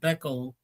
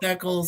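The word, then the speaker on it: Becel: Like I said, uh, it's called Beccal. Some people call it Beckel. Some people call it a bell. Um, but it's spelled B E C E L is how they spell.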